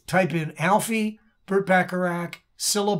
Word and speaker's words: Cilla: in alfie bert bacharach cilla black c-i-l-l-a syllable and you're going to